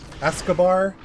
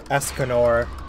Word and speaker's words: Escanor: Escobar?